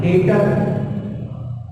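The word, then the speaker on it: debtor: डेटर, डेटर, B silent है, डेप्टर नहीं पढ़ते बल्कि क्या पढ़ते हैं? डेटर, सही है, डेप्टर नहीं पढ़ते, तो डेटर पढ़ते हैं।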